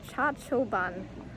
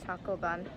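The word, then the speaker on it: Chacchoben: to pronounce the ruins it is the cha choban ruins not a choco bun um yeah the tour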